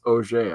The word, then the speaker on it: Auger: is uh uh auger it's not pronounced auger it's OJ I know that for